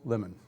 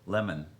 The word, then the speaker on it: Lamon: have with us in the studio ward hill lemon name is ward hill lemon spelled l-a-m-o-n i was born january the 6th